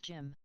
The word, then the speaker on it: Jin: It's pronounced Jim.